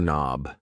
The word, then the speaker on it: knob: A door knob. Yes. The K in knob is silent.